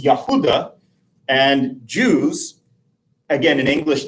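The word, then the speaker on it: יהודה: and the name uh which we render as Judah in English in Hebrew is Yahuda and Jews again an English term would be Yahoudim in Hebrew.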